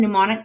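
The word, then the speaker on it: gnomonic: And then this last one, mnemonic projection, the G is silent.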